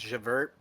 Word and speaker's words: Javert: least we have javert it's actually pronounced javert uh i'm here looking